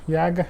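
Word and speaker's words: Jargar: Yarga se escreve Jagar, uma corda salvo erro dinamarquesa.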